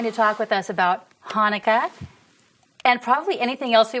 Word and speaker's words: Chanukah: is it spelled okay it's pronounced Hanukkah with a CH okay but there is